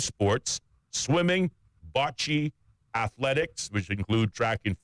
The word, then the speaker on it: bocce: of June, and will feature 5 sports: swimming, bocce, athletics, which include track and field, basketball, and stand-up paddleboarding, which I think is rather interesting.